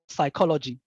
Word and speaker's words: psychology: is kind of Silent for example the word psychology you can see that the p is silent and if you are